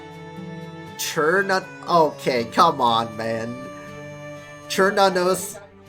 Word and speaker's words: Cernunnos: Churnanos is how Smite and I pronounce it. It's supposed to be the K sound.